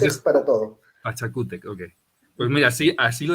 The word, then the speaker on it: Pachacútec: Pero es fácil, porque en quechua no existen palabras que tengan el acento en la última sílaba.